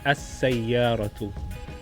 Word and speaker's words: السيارة: Introduce the definite article is As-Sayyaratu.